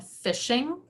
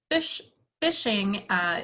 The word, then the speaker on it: phishing: to be aware of what's called phishing but it is spelled with a ph i didn't make a misspelling here fish fishing in digital technology is when someone sends you